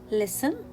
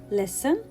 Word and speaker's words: listen: some common words like listen castle whistle belly soften fasten so in all these words we will not pronounce letter t why it is a silent letter in these tricky words so hear listen hear castle hear whistle